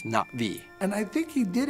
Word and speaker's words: Na'vi: So I I wrote, you know, I wrote it as NA apostrophe vi so that it wouldn't be Nav'vi or Na'vi. It's Na'vi.